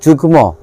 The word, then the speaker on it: যুগ্ম: যুগ্ম, যুগ্ম শব্দে গয়ের সঙ্গে মফলা রয়েছে এবং গয়ের উচ্চারণটা এখানে হবে এবং ময়ের উচ্চারণটাও হবে।